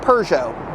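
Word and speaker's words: Peugeot: my pronunciation of it I know that in the UK it is pronounced PUO but I think it's pronounced perso it's pujo at least I'm pronouncing it somewhat correctly I mean imagine if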